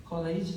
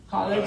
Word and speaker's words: collage: And yeah, I think that's why I with these voices, collages, I don't know how to say it. College. Not college. No, collage. Collage.